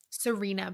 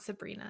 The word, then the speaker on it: Sarina: __ ] kidding me it's not sabrina it's serena i swear to god i was like is it sabrina or sabine but now you're telling me it's serena but it's spelled it's spelled like sabrina just with no b it's not like s